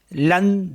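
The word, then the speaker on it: lundi: बोलते हैं मंडे और फ्रेंच में बोलते हैं लं दी एल यू एन दे ई तो इसे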